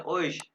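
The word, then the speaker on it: euch: ओइश ये ओइश है, औख नहीं कहना, ओइश कहना, ओइश तुम लोगों को।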